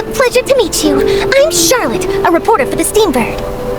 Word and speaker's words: Charlotte: Charlotte? I think her name's pronounced differently though, so Huh? correct me if I'm wrong. They'll probably correct me though. What? Hello. Paimon! Charlotte! Okay, it's Charlotte.